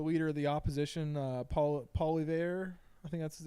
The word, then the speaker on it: Poilievre: Have you ever watched the clips of Trudeau and the leader of the opposition, Paul Poilievre? I think that's how you say his name, Poilievre.